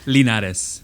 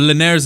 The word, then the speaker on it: Linares: it's last name's wrong linares that's as about as good as you're gonna get yeah that's it linares okay you gotta have that little twang no but lanais is what i was